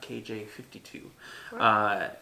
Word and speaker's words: KJ-52: looking at kj5 - it's pronounced that knot KJ 52 his 13th release depending